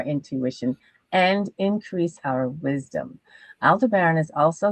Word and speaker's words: Aldebaran: When the sun aligns with the royal star Aldebaran, I am really bad with the pronunciation.